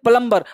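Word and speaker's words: plumber: अब देखिए प्लम्बर, प्लम्बर तो आप सबको पता होगा, लेकिन प्लम्बर बी हम लोग अक्सर बोलते हैं प्लम्बर, वो बोलते हैं प्लम्बर। प्लम्बर बी को साइलेंट कम बोलना है।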